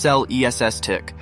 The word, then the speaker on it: Celestiq: a hand production of celestic pronounced cell ESS tick will consequently need to